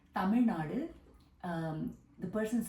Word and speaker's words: Tamil Nadu: where I'm from is called Tamil Nadu or Tamil Nadu if you want to say it really properly with pronunciation Tamil Nadu um the person said